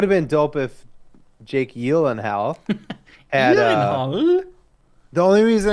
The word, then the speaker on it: Gyllenhaal: though it everybody calls him Jake Gyllenhaal and his sister Maggie Gyllenhaal, their last name is actually pronounced Gyllenhaal.